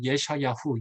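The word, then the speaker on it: ישעיהו: 제목은 히브리어 성경에서 예샤야후, 이사야의 히브리어 발음인데요.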